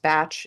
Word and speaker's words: Bach: Bach, uh, who is British and so should really be pronounced batch instead of Bach, but we'll we'll we'll go with mainstream here.